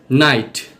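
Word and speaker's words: night: যেগুলোকে সাইলেন্ট শব্দ হিসেবে বিবেচনা করা হয়, যেগুলোতে জিএইচ উচ্চারিত হয় না। এক্সাম্পল, বাও, বাও অর্থ গাছের ডাল। ব্রট, ব্রট অর্থ এনেছিল। কট, কট অর্থ ধরেছিল। ডও, ডও অর্থ মাখা ময়দার তাল। নাইট, নাইট অর্থ রাত্রি বা রাত।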